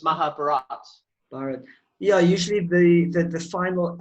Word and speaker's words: Mahabharata: read yeah my my understanding i apparently i pronounce it wrong because i say mahabharata so it's mahabharata yeah usually the the final a in a